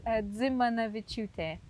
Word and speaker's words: Dzimanaviciute: Tongue, it's Dzimanaviciute. Dzimanaviciute. How was that? Nearly. It was the last bit I got wrong, wasn't it? Dzimanaviciute.